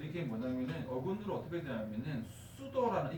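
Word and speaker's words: pseudo: 그래서 이게 뭐냐면은 어근으로 어떻게 되냐면은 수도라는 이 피가 묵음이거든요.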